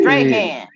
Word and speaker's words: Strahan: Oh, Strahan. Strahan. Excuse Listen me. that. Correction. Yeah. Strahan. Y'all need to be louder next time and correct me. Strahan. Michael Yeah. Strahan.